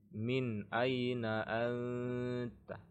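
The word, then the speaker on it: مِنْ أَيْنَ أَنْتَ: Min aina anta, anta, min. Ini tidak dibaca min, tidak dibaca mim, tidak dibaca miu, mi, tapi min aina anta.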